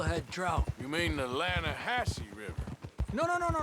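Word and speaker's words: Lannahechee: The other day I rode down to the Lanahche River. I caught some beautiful steel head trout. You mean the Lahassy River? No, no, no, no, no, no. The the Lanahhatche.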